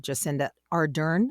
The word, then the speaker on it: Jacinda Ardern: an exemplary way, and that your Prime Minister, Jacinda Ardern, is that how you pronounce it?